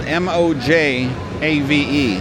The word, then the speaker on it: Mojave: Mojave."